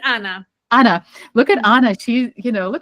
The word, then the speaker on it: Anya: It's Anna.